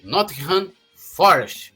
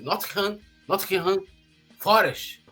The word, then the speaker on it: Nottingham Forest: e o Gustavo Scarpa, que foram para o Nottingham Forest. É isso, Bruno? É assim que se pronuncia? Nottingham Forest.